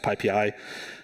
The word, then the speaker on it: PyPI: for those of you who aren't uh it's pronounced pii uh it is the primary package index for